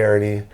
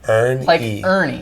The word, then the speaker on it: Hernie: spells it e-a-r-n-i-e like ernie yeah but no it has the h for hernandez yeah but like it's like h is silent just like it was in spanish yeah exactly so that's